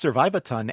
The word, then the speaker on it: Survivathon: Um it's funny because it's pronounced Survivathon, and it is short for survive a ton.